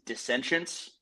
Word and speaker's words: Dissentience: So the band name, how we pronounce it is Dissentience.